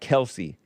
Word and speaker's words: Kelce: and hash Donna Kel so I call him Kel not Kelsy Joel Friday barged into the room the other this student Studio the other day correcting me on momes it's momes and Kelsey it's not Kel egg on joelle's face he got embarrassed no but either one is right actually because the father according